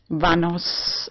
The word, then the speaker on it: Vanos: fantasy anyway I when I explained my name to people on the street vanos it rhymes like vamos a la playa but written with in okay and I have